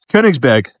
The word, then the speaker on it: Königsberg: In German, really, it's pronounced Königsberg.